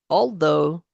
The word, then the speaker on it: although: So, as it says here in this title, these other words, in these other words, the GH is silent. High, sigh, though, through, although, though.